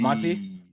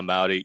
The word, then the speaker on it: Maudy: What's up, Monty? Is that how you say it, Monty? Maudy. Maudy. What's up? What up? Is that how you're supposed to? Yeah, Maudy. Yeah.